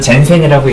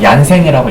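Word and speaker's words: Jensen: 마코프 부등식, 체비셰프 부등식, 그 다음에 영어로는 젠센이라고 있는데 보통 얀센이라고 읽기도 합니다.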